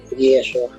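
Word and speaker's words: ישוע: Ya para la época de Esdras se empezó a utilizar la palabra Yeshua, que es la forma arameizada. Y ya para el Nuevo Testamento es la pronunciación que siempre se utilizaba, Yeshua.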